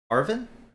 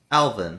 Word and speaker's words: Alvin: Arvin? Alvin. Alvin. Like the chipmunk.